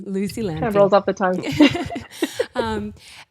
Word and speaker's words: Lampe: have a beautiful guest Lucy Lampe am I pronouncing that correctly it's very close this lampy lampy just Lucy lampy Lucy lampy rolls off the tongue um and I've been